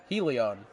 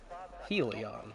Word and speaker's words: Helion: Helion. Ah, very good. Helion. Okay, good. No, I've got a driver in my Thursday league who kind of spells it the same way, but is pronounced Hellion, so that's why I've got that.